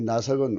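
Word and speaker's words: נָשַׁק: 이 나색은 우리말 구음의 내색과 비슷하죠.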